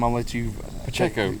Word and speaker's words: Pacheco: Pacheco. Pacheco, there you go.